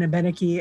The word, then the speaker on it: Abenaki: At Odinak, there is this Musée d'Abenaki, or Abenaki, actually, is how you say it in Abenaki and in French, that this museum opened in 1965, and it was the first Indigenous museum in Canada.